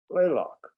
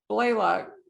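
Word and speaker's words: Blalock: was it blaylock or blailock how did we pronounce it blaylock blaylock series of medical thrillers his novels have been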